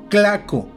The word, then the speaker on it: tlaco: También se le llegó a decir claco con C, pues los españoles no podían pronunciar el fonema TL. Los tlacos eran hechos por los